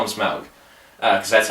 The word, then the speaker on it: Smaug: Let's just call him Smaug, because that's how they pronounce it in the movie.